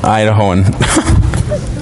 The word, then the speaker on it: Idahoan: Idahoan.